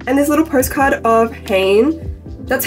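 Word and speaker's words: Hanni: heart stoer leaves and this little postcard of Hayne that's how she pronounces her name and interview so that's how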